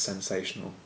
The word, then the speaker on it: Scentsational: I'm sure it's supposed to be pronounced sensational, but just so you can differentiate, it's Scentsational Fearless, which I'm assuming is kind of a man candle type.